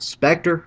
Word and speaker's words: Spectre: who can go invisible spectre who rhymes with vector lupo who has the